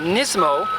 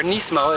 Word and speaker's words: Nismo: Now the aftermarket seat is actually a Nismo, or Nismo as it's actually pronounced, seat.